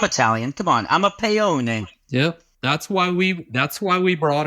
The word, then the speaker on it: Paone: They were trying to get him to drop using the E sound at the end of our name, Paone, right?